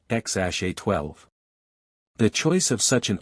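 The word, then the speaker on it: X Æ A-12: Due to California naming laws prohibiting numbers, the name was adjusted to X-AE-A-12, pronounced X-A-12.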